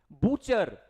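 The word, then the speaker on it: butcher: ऐसी औरत के बस बुचर ये दिखने में क्या लग रहा होगा गुटचर कभी भी बेटा टी सीएच एक साथ आ जाए तो टी हो जाएगा साइलेंट तो क्या है यह बूचर और बूचर वो इंसान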